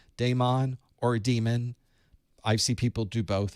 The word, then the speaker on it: daemon: term that actually is demon it's actually pronounced demon but in the industry